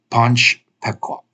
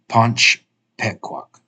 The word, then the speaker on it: Panch Pequak: So this would be pronounced Panch Pequak. Panch Pequak. So when you have this E, when you have the E like that, it's like the E in bed.